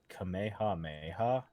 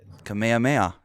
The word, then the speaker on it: Kamehameha: did you just say kameha Mayha have you not watched Dragon Ball Z that is not what it is Kamehameha isn't it right but you definitely didn't just say that di I emphasized the syllables put some wonky ass